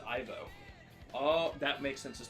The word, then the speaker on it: Ivo: His name is spelled Evo, but pronounced Ivo.